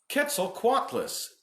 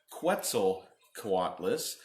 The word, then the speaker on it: Quetzalcoatlus: lemonade out of lemons so today's animal is Quetzalcoatlus Quetzalcoatlus sometimes pronounced quetzel koalas it is not a dinosaur it is a